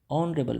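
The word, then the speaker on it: honorable: मैन ऑनरेबल मैन नॉट H silent इसमें ठीक है एच और ओ जब साथ में आ जाता है तो ये जो एच है [नाक से की जाने वाली आवाज़] वो साइलेंट हो जाता है और साउंड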